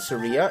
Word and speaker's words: Saria: And this is our best friend, Saria. It's Saria, not Saria, you motherfuckers. It's Saria.